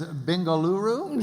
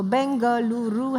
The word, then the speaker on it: Bengaluru: Is that the same as Bengaluru?